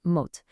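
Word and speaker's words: մոտ: For near, the word is mot, pronounced mot.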